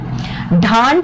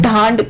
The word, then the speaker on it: ढांड: ढांड, कुछ इसको ढंड भी बोल सकते हैं अदरवाइज, ढांड और थली क्षेत्र, ठीक है।